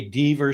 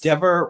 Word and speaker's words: Dever: Dever rhymes with never, and she never should have said what she said when she went to the FBI on August 9th of 2023.